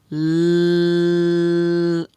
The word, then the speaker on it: lobe: This one also has 3 sounds. The L sound, the O with the silent E together, and then the B sound.